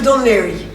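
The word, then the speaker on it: Dún Laoghaire: After a 15-minute tender ride, we are in the town of Dunlachmere. Welcome to Dunleary.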